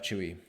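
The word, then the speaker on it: Tzuyu: Technically, you spell out Chewy's name as Tz U, but because she's Mandarin, she pronounces as Chewy. Well, I'm I'm probably mispronouncing how she says it, but Chewy, it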